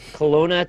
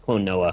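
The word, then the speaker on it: Klonoa: guys today's game was Colona 2 Luna a yes all right oh I remember that thing yeah NOA I always say it wrong it's Clon NOA Clon NOA I remember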